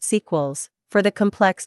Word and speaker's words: S3QEL: They call these molecules site-selective electron leak suppressors, SELs-S3QELs, pronounced sequels, for the complex 3 site, and S1QELs, pronounced cycles, for the complex I site.